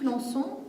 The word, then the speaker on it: Lançon: je vais vous dire deux mots sur philippe lançon c'est parce qu'il me semble que c'est important que vous sachiez donc philippe consent son nom s'écrit lan cédille oen philippe lançon donc philippe lançon et 1 et 1 est un journaliste c'est